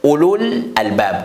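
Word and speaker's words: أولو الألباب: Ici, il y a le waw aussi, après Hamza. Mais le waw, c'est rien. On écrit le waw, mais on ne prononce pas le waw. Parce que sur waw, il n'y a pas de sukun. C'est pour cela, on ne peut pas prononcer cette lettre-là.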